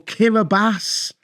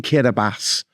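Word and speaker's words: Kiribati: way you think or kiras which is actually spelled kirati but they pronounce the ti as an s in kirbas makes the spelling of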